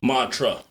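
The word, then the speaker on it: Montreux: of you in Switzer Switzerland's Montreal Mantra Mantra This Is How They pronounce it took me a while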